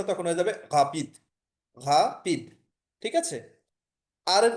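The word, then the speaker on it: rapide: একটু পার্থক্য আছে, ইংলিশের সাথে মিল আছে, এটার উচ্চারণটা তখন হয়ে যাবে ঘাপিদ, ঘাপিদ।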